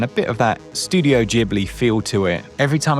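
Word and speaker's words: Ghibli: Every time I say studio jibli, it just sounds wrong. Jib. Should be gibb, shouldn't it? But it is actually jib or somewhere in between the two with the Japanese pronunciation.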